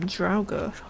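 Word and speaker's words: draugr: what is this evil I always heard it pronounced as um drer but it's the joyer interesting that must be um their way of saying it I got to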